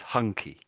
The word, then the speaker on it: hunky: I think maybe I think pronounce you missed off the H there. I think so, but most of the time we say the H when it's on its own with as W or something. It's a tricky letter, isn't it?